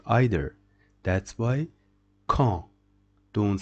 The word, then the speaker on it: quand: These two letters, it is pronounced K, and this one E. So key. Key means who. Quand. Don't say quand.